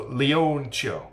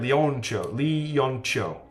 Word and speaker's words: Leoncio: Stress is on the first O. So Leoncio. Is that right? Leoncio.